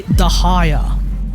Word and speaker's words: Dehya: First things first, I say the haya. The haya. This is the pronunciation that is provided to me by a Pakistani Muslim friend of mine. It's why I don't say tinari over tari. But dea is fine, too. It doesn't really matter how you pronounce her name.